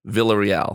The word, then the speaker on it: Villarreal: so that's why i wanted to so villarreal yes the way you pronounce it yes that's how i pronounce it